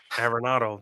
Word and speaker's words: Arenado: How do you pronounce his last name? Nolan Arenado. Nolan. I can't. Arenado. Arenado.